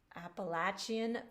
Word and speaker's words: Appalachian: he's written based on appalachian appalachian fiddle tunes and that's where i live i'm in the middle of appalachia i think that's how you say it in this part of the woods um and the sonata